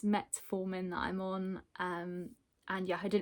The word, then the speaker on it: metformin: When I came back to edit the video, I realised that I've completely been mispronouncing the medication all the way through. It's metformin that I'm on, and yeah, I didn't realise